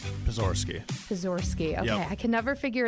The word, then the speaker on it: Pozorski: how do you say your last name porori pizor ski okay I can never figure it out and I'm like PA like pizor ski yeah okay got it well welcome pozorski